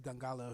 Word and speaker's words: Dongala: Everything else is Dongala Official. But if you put in Dongala, you're gonna find me. There's not too many Dongalas out there. And go ahead and spell it. It's Dongala. Don Gala.